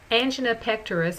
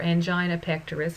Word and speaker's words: angina pectoris: into the right atrium angina pectoris or angina pectoris it's pronounced either way occurs when there's a